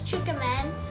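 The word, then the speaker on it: tsukemen: It's actually pronounced as Tsukumen.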